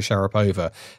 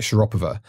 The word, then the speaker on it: Sharapova: We still say, sports people in the UK still say Maria Sharapova, but she'll always call it Sharapova because that's how you say it in Russian.